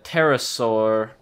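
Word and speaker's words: pterosaur: group name is like uh terrasaur uh or spelled with a p parasaur uh those are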